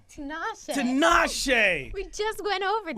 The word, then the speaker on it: Tinashe: But I have to say Tinashe. Tinashe.